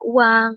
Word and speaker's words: Oeang: bertugas untuk mengeluarkan, mencetak uang, dikeluarkanlah ORI. Oeang Republik Indonesia, dibacanya uang ya, itu O dengan U gitu ya.